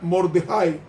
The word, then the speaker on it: Mardoqueo: Hay una tercera persona que es Mardoqueo, que se pronuncia Mordejai, que es primo de Esther y oficial benjamita del palacio en Susa.